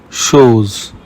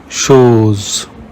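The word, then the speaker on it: chose: Rules rule number one CH is pronounced like sh in the English word she here are some examples sha means Cat shows means thing machine means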